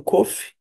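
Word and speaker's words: קוף: Agora nós temos o cof, que é equivalente ao Q de queijo. Cof. Cofe. Cofe com que com e que cofe com a K e assim por diante.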